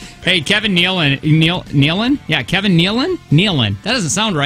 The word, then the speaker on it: Nealon: dad on problem child is how you say his name Nealon Nielsen no no Nealon no no Nick Alan